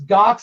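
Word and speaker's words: Ghox: challenge um what else gox i've been playing the you know jar that's how you say it g-h-o-x another one of those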